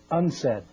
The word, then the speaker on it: UNCED: Nations Committee for Environment and development it is pronounced unsaid I own an environment company too and I'm